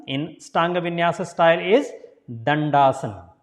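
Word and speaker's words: Dandasana: So first D, tongue between the teeth, the, and second D is pronounced as a D, tongue touching the hard palate.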